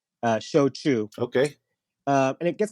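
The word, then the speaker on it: shōchū: with the pronunciation um it's show Che like show me the money and chew your food uh show Che okay uh and it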